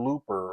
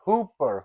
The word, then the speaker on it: Hooper: He mostly called him Mr. Looper or something. And everyone and he said, that's Hoopa Big Bird. Hooper, Hooper.